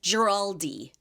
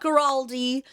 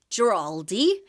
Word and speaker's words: Giraldi: Her name is Giraldi. Not Giraldi, not Giraldo, Giraldi.